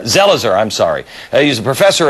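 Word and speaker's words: Zelizer: how how do you say your last name zelzer zelzer I'm sorry he's a professor at Princeton University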